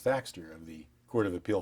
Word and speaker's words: Thaxter: title when you're on the bench F thxer last name is spelled t HX t r and I'm a